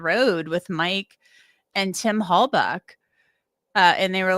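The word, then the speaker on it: Halbach: And I remember they were like, "Halbuk, you know, buck like a deer." And they went like that. So I always say Hallbuck because that's what they told me even though it's spelled Bach.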